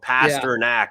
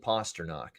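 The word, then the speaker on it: Pastrňák: jose they call him pastor knack they just gave no pronunciation at all yeah pastor knack yeah it's i've always said david posternock and not knack knock like knockouts he says parsons so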